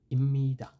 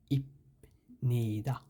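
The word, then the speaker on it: 입니다: যেমন ইম্মিদা, এখানে উচ্চারণ হওয়ার কথা ছিল ইপনিদা, কিন্তু ইপনিদাটা না হয়ে এটা হবে ইম্মিদা। ইম্মিদা ময়ের মতো উচ্চারণ হবে এখানে, ইপনিদা এরকম না হয়ে ইম্মিদা, ইম্মিদা এরকম হবে দুটোটার উচ্চারণ।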